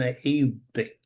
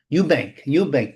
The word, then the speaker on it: Eubank: Now, Jack Cartel against Harlan Abick, Elbick, Elbunk. Am I mispronouncing the Englishman's name? Eubank, there we go.